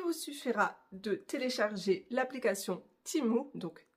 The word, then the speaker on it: Temu: vidéo aujourd'hui unboxing spécial timou oui je prononce ça comme ça timou donc j'ai été contacté